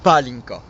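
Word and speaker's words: pálinka: Attends, Zoltan, il faudrait que tu prononces avec l'accent. Palinka.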